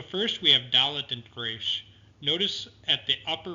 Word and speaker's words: Resh: Resh is rolled in Hebrew. It's similar to the Spanish R. not the American R.